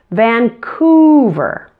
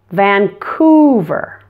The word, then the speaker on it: Vancouver: fairly easy the qu the C has a K sound and the O you is pronounced ooh like the sound in the words food or moon pull your tongue back and round your lips when you make this sound ooh since the U is in a stressed syllable it's especially important to stretch out this sound Vancouver Vancouver be careful